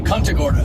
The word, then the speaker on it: Punta Gorda: We just left Punta Gorda. Is that how you say it? It's Punt? It's actually Punta Gorda.